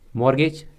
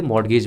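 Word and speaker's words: mortgage: होते है ठीक है मॉर्गेज कुछ लोग कुछ लोग इसे मॉर्टगेज बोलते हैं बट इसमें टी साइलेंट होता है ठीक है तो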